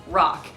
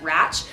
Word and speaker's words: RACH: Championship) is pronounced "mock", the RACH is pronounced "rock" like "rockstar".